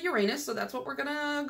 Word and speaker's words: Uranus: to tell me in the comments, do you pronounce it Uranus, which I think is the correct way, or do you say Uranus because we're all 14-year-old boys at heart? I definitely say Uranus, so that's what we're gonna go with.